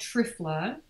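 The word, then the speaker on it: triphala: Another really simple fix, which, you know, also mentioned in the book, is just adding an herb called trifla, and that's spelled T-R-I-P-H-A-L-A.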